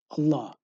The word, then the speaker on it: Allah: is an obligation to leave the name of Allah in its original form as it is pronounced Allah this is because the